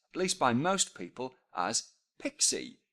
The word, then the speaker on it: PXE: by most people as pixie so kinda like pixie dust or fairy dust and my daughter loves